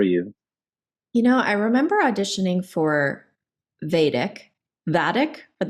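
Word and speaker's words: Vadic: I remember auditioning for Vadik, but is that the way they're pronouncing it? Yes, it's Vadik.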